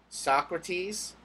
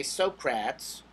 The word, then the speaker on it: Socrates: So, the big three when we talk about Greek philosophers: Socrates, Plato, Aristotle. Make fun of the people who say Socrates or Plato. It's Socrates and Plato and Aristotle.